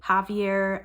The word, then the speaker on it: Xavier: to the audio book which is why I'm calling him Javier because the name is spelled like Xavier I haven't ever heard of a Javier spelled like Xavier but I never would have guessed that without listening to the audio book so Sloan she's shown